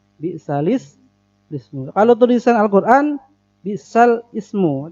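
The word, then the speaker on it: بِئْسَ الِاسْمُ: Dan sering orang baca bi'sal ismu, padahal itu bukan begitu bacanya. Bi'salis ismu.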